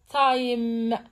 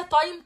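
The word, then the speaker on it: time: نقراها مع بعض تعالوا نقرا حرف حرف التاء تايم صح طيب هنا لما قرو معايا تايم كده قولوا معايا تايم انتم كده نطقتوا حرف الاي لا بس معناش صوته خالص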